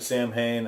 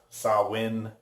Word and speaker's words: Samhain: stuff in here and I'm pronouncing it Samhain I think might be pronounced saw win I'm not sure but here in America that is pronounced Samhain so let's go down